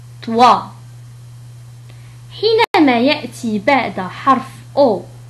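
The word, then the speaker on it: toi: حينما يأتي بعد حرف أو حرف إي تنطق وا. مثال على ذلك طوا. طوا.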